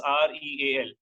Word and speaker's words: rial: This is REAL. They write it as Rial, but they pronounce in a different manner. Okay, they pronounce as Real. They don't call it as Rial.